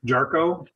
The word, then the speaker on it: Jarchow: Okay, my name is Jarko. You were close, gets butchered a lot.